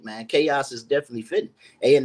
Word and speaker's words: Qos: The pronunciation is QAUS, chaos or chaos. That's the pronunciation.